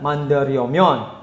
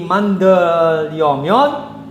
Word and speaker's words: 만들려면: Dan juga untuk pelafalan seperti 만들려면, jika bacim real bertemu dengan real, ini sebenarnya menjadi L dua-duanya, bukan 만들려면, bukan. Menjadi 만들려면.